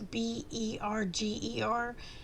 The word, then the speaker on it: Berger: But it's Scharffen, and then Berger or Burger, but it's Berger.